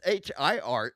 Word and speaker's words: hir: A gender neutral pronoun is most commonly pronounced like the word here.